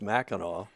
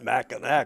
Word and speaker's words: Mackinac: U Clark, why is it pronounced uh by Michiganers anyway properly as Meno whereas um non-Maganders tend to pronounce it Machin like it's spelled?